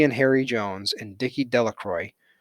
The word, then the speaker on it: Delacroix: harry jones and dicky delacroix the villagers pronounced his name de la croix eventually made a great